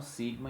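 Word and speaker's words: σ: E aí nós temos o sigma com som de S, S de sapo, por exemplo, não som de Z, é som de S.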